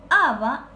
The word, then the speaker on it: aba: Aba, dice, lleva acento en la A. Aba, si buscamos en nuestro diccionario guaraní, es cabello o cabellera o pelo.